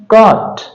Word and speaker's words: caught: उसी तरह से CAUGHT, इसको पढ़ेंगे हम कॉट।